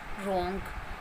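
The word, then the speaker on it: wrong: डब्ल्यू, जब भी कोई वर्ड डब्ल्यू आर से शुरू हो, जब भी कोई भी वर्ड डब्ल्यू आर से शुरू होता है, डब्ल्यू वहाँ पर साइलेंट रहता है, मतलब डब्ल्यू आर के साथ साइलेंट रहता है, बट वो वर्ड डब्ल्यू आर से शुरू होना चाहिए।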